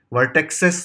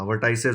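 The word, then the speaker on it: vertices: वर्टेक्सेस नहीं होता, वर्टाइसेस होता है।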